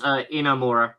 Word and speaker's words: Inamura: it yoshu Kiri inamura that's the one it's inamura yeah yosira yosira inamura all